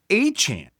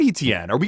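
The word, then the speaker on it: Etienne: Speaker: And and they added Travis Achan, not ETN.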